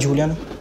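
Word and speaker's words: Diullyan: Ça se crie bizarrement, mais ça se lit simplement.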